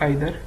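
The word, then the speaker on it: either: ठीक है, इसको ईदर और नीदर भी बोलते हैं, प्रोनाउंसिएशन अलग हो सकती है। ठीक है, तो इसमें क्या है, यू मस्ट ईदर या आइदर be regular विद your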